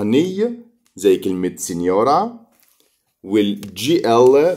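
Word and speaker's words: signora: نقرا مع بعض كده سينيورا. سينيورا سينيورا يعني سيدة. أي جي إن في الإيطالي بنشوفها بننطقها ني، زي كلمة سينيورا.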